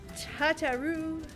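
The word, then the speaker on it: Tataru: Tatarou, like a Quebecois.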